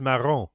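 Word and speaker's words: marron: No, it's Maron.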